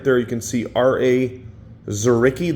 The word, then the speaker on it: Dzuricky: Dzuricky, the D is silent, 2024.